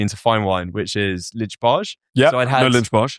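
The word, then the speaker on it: Lynch-Bages: fine wine, which is Lichbage. So I had lunch like aged Bordeaux. They call it lunch bags in the trade. Okay. Um pronounced in a horrible English way.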